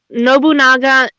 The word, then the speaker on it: Nobunaga: And it does look like they are focusing more on Nobunaga and Mistlehide.